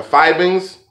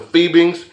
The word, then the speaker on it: Fiebing's: to use alcohol dye the Fighting's or the fiebing's whichever whichever way you hold your mouth is a proper way to say it depending on what part of the world you're from but if you use